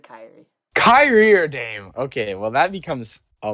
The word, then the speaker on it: Dame: a better point guard domine or kyrie who's the first option maybe i said it wrong so i watched basketball d-a-m-e i said dame sorry i just pronounced